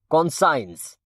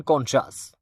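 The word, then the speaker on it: conscience: গাজামুখী যে একটা জাহাজ কনসাইনস আবারো শোনেন কনসাইন্স এটাকে আপনারা উচ্চারণ করতেছেন কনসাস বা কেউ কেউ কনসা ইউ হ্যাভ এনি আইডিয়া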